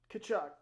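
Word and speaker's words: Tkachuk: Don't pronounce the T. Kachuk.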